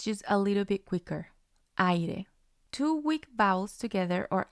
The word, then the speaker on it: aire: For example, aire, aire. And this is how the syllables are broken down. A, I are together because A is strong, I is weak.